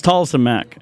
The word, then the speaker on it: Tolleson-Mack: Yeah, it's Tolleson-Mack. Tolleson-Mack, Everything, all of it. Spell that.